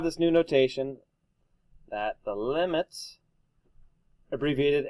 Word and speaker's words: limit: help me please mogen you don't actually pronounce announce the abbreviation it stands for something M so limit cosine sign not limb sin and cost or got it all right